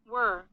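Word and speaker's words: whir: what that oh were were oh it's pronounced were my bad okay it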